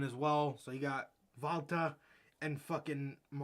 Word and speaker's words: Walter: says his net he's pronounces his name as valta so you know germans usually pronounce a w as a v so you know